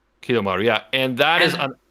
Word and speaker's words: Kidomaru: Kidomaru. Kidomaru, yeah.